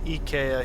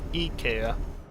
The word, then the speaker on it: IKEA: whoops that's not ideal ikea is pronounced ikea here in japan whoops i'm getting hunted into the field though i don't think i've really ever heard anybody pronounce it eka but you know i'm also not in the part of the world where that pronunciation of that spelling makes sense much i knocked down